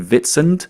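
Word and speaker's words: Witsand: One is like two hours east of that and it's called Bitcoin Vitz, but it's spelled like Wit Sand. It's like the African's pronunciation.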